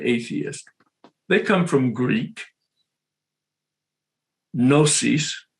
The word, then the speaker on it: gnosis: they come from greek gnosis the g is silent g-n-o-s-i-s in greek that's knowledge